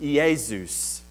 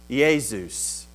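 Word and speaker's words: Ἰησοῦς: If you're a Greek person, you would pronounce it Iesus. Iesus.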